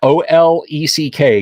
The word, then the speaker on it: Olek: Olek, pronounced Olek, Oleck.